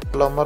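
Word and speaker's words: plumber: प्लमर म्हणजेच नळम करणारा मित्रांनो एम यामध्ये सायलेंट असते म्हणून त्याला प्लमर असे प्रोनन्सिएशन करतात त्यानंतर ऑडिटर म्हणजेच लेखापरीक्षक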